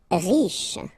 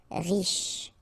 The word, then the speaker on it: riche: Riche. Final E not really pronounced, so sh is the last sound. Riche.